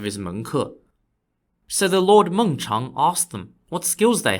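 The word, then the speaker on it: Mengchang: them I'll give you another example the Lord mongchang was an aristocrat in the Kingdom of chi spelled Qi during the early 3rd Century BCE mungchung is spelled m-e-n-g-c-h-a-n-g the Lord was famous for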